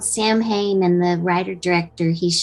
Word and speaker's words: Samhain: the the name of the the movie is s-a-m-h-a-i-n samhain okay so that you do pronounce it's okay no it's pronounced i didn't want to butcher it but yeah it's called samhain and the writer director he's shown me some